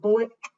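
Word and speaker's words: Bulleit: so one ounce of bullet how do you pronounce it like the ammunition sun into our shaker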